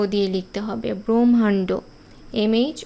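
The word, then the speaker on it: ব্রহ্মাণ্ড: ব্রাহ্মণ এখানে এম এইচ ও দিয়ে লিখতে হবে ব্রহ্মান্ড এম এইচ ও এর উচ্চারণ আমরা যদিও ভুল করে ব্রাহ্মণ ব্রহ্মান্ড এরকম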